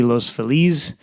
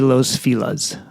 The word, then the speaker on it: Los Feliz: time in Los Angeles, I have been mispronouncing my favorite neighborhood for many years. And, I feel really bad about it. And from now on, it will no longer be Los Feliz. It'll be Los Filas.